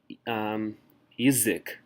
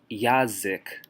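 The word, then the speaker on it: язык: Yizik. We don't say yazik because the stress is on y.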